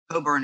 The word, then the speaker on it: Cockburn: he was responsible for saving from for saving norfolk from being invaded by admiral cockburn coburn if he pronounced his name properly although the americans always